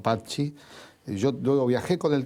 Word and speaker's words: Patxi: que cantábamos tus canciones, te pronunciábamos mal, decíamos Patxi, porque leíamos como se suele leer en el español, claro, y no Patxi.